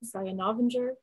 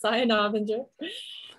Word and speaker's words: Saya Novinger: just search my name saya navenger correct pronunciation yes cyan avenger um and you'll find